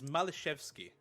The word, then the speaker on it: Malishevsky: It is Malishevsky is the pronunciation for it.